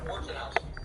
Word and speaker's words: Wojnarowski: I know that happened, so I was like, pronunciation. Enemy appears KIA. Wojnarowski.